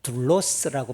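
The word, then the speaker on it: δοῦλος: 지금부터 2000년 전 1세기 로마 제국의 시대에도 주인에게 종, 둘로스라고 발음하는데요.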